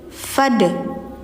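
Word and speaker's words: فادخلي: ilaina iyabahum fad alif di sini jangan panjang teman-teman ya tapi langsung ke si dal karena dalnya mati jadi enggak fa Tapi fad fad gitu.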